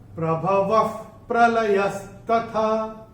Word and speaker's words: प्रभवः प्रलयस्तथा: अक्षर है प, और विसर्ग के बाद जब प या फ आता है तो विसर्ग का उच्चारण होता है फ। जैसे फूंक मारते हैं ना, वैसे फ। तो प्रभवः प्रलयस्तथा, प्रभवः प्रलयस्तथा, ये ऐसे करके होगा।